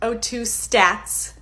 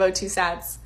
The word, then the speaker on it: O2 sats: Obviously, number one, O2 stats instead of O2 sats.